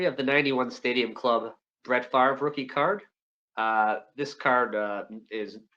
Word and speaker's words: Favre: Here we have the 91 Stadium Club Brett Favre rookie card. This card is notable because, of course, they spelled his name wrong. Spelled F-A-R-V-E like it sounds.